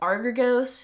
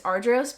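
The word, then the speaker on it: Argyros: I've heard everyone say the funniest things. Argos, Argios, Agios. It's so funny. It's Ardros, but most people call it AF.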